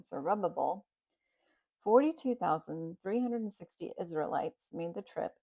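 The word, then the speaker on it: Zerubbabel: Led by Zerubb Zerubbable. Zerubbable. That's how you say it. It's big and long. Zerubbable.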